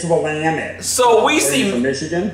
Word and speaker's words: Willamette: willamette you know uh-huh so then element it's willamette so we see from michigan mackinac but it's